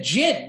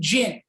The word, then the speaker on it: djinn: girl who's seeing a jinn. Now, you know, explain what a jinn is. It's not G-I-N. It's not like gin and rummy. It's not like the game.